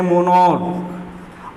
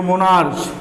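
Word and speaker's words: monarch: अब अगर इसका आप हिंदी करते हो, उच्चारण करते हो मोनार्च, तो मोनार्स च करते हो तो फिर आप ई एस लगाकर प्यूलर बनाओगे, गलत हो जाएगा। इसका उच्चारण होता है मोनॉर्क, और मोनॉर्क का प्यूलर बनाओगे आप तो हो जाएगा मोनॉर्क्स, मोनॉर्क्स, यस लगेगा, ठीक है।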